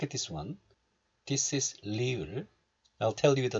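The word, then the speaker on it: 리을: This one is pronounced like the sound between R and L. Sometimes it's pronounced the same as this L, like lady, but other times it's a little bit different.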